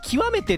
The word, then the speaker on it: 極めて: ことを行くぞ極めてって読むんだね米あのうずっと決め手だと思ってたこれ極めてかああ